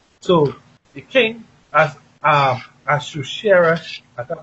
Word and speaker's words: Ahasuerus: So the king, as Ahasuerus, I can't pronounce it, as Ahasuerus, right? Assurus. Yes, Ahasuerus.